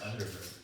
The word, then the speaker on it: Underberg: actually pronounced Underberg. Oh, Apparently. Underberg is a...